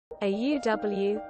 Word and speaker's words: auw: Auw, pronounced like ow, is ow in Dutch.